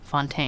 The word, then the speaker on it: Fountaine: I need to ask you how do you pronounce your your last name Fontaine Fontaine with an American I'm an